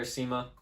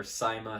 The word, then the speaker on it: CYMA: so good job there seema or saima however you know people pronounce things all sorts of all sorts of different kinds of ways i'm going to say sema from there we have